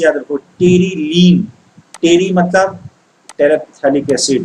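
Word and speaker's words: terephthalic acid: Terylene ऐसे याद रखो, टेरिलीन, टेरी मतलब टेरेप्थैलिक एसिड। देखो बेटा पीएच का प्रोनाउंसिएशन नहीं होता है, इसको पढ़ते हैं टेरिथैलिक एसिड, बट पीएच यहाँ पे साइलेंट है।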